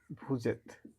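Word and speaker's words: vous êtes: এটা উচ্চারণ হবে এত, আর এটা হচ্ছে ভু। যখন একসাথে উচ্চারণ হয় ভুজেত।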